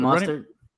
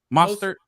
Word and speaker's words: Mostert: Raheem Mostert. Mostert.